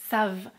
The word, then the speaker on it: savent: vous savez, ils, elles savent (We know, you know, they know) I still don't pronounce the final letters "ent" Now, should we say: